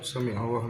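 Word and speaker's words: سَمِعَ اللهُ: Samiallahu liman. Samiallahu liman hamidah. Itu " Samiallahu liman hamidah" menggunakan 'ain ', kan? Samiallah. Ya. Makhraj (artikulasi) agak dalam di tenggorokan.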